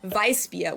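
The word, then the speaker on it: Weißbier: So it's like it's like vis or vis like a v but vis like a very strong beat or in Bavaria we call them vice beia which translates to white beer.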